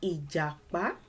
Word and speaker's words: Ìjàpá: 3 syllables. We cut it down into syllables. Ìjàpá, ìjàpá, ìjàpá, ì. Does it align with do? I, do. Yes. It doesn't align with re, I. You can tell from my tone. I, re, no. And it doesn't align with me, I, me, I.